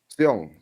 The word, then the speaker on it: Seong: Sung is a S-U-N-G or SEONG. Seong? Okay, we Yeah. pronounce that Seong.